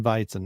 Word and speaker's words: Weizen: soft R, and then Weizen would be just with a V instead of a W. It sounds like Weizen.